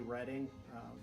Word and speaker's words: Reading: writing and arithmetic but I think it might be reading you know the play on reading in the UK but this is a